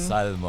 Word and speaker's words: Salmo: Salmo po. Salmo. Wow, kakaiba. Oo. I'm Very your unique, DJ diba? Salmo. Salmo. Wow, grabe Ang DJ yan. Salmo rhymes with salmon.